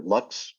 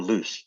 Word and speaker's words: lux: relationships this one's called either Lux or loose depending on how you pronounce the Latin word for light finding our way let